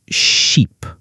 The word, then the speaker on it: sheep: sounds, like ship and sheep. Oh, that's a great example. Ship has a short I sound like I. Sheep has a long E sound.